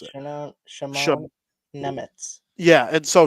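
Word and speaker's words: Šimon Nemec: Yeah, and so Simone or Simone is like very the French or English way to like think of Simon or Simon, but it's very Slovakian to do the sh at the beginning.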